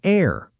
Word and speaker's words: heir: An honest person, an heir, an honor. All silent H, all vowel sounds, all an.